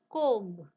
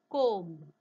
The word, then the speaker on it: comb: Comb. Look at the pronunciation of next word. Womb. See the similarity in spelling. Comb. Womb. Read. Dead. Almost same hai baga spelling. But pronunciation vega hai.